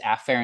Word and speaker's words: afferent: What I will do in lecture, generally the pronunciation of these is afferent and efferent, which sound almost identical.